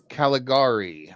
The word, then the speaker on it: Caligari: Cal Calig Caligari. I always struggle to pronounce that one.